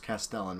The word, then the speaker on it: Castellan: I've been informed that that card is pronounced Castellan, by the way.